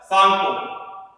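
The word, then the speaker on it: Tsangpo: अब करें रिवर ब्रह्मपुत्र की बात, पहले इसका नाम होता है सांगपो, ठीक है, 30 में साइलेंट।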